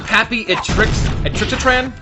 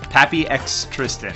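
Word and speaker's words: PappyXTristan: Pappy Atrixatran? Is that how you pronounce that? Pappy Atrixatran? I think it's Tristan. Pappy X Tristan.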